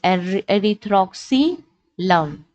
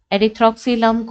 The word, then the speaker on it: Erythroxylum: It can also be pronounced as erythroxylum, erythroxylum coca or erythroxylum coca.